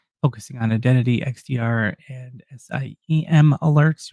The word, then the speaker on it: SIEM: They're saying that Microsoft suggests focusing on identity, XDR, and SIEM alerts, which you can pronounce SIM or SIEM, and the following scenarios are particularly suspicious for Midnight Blizzard activity.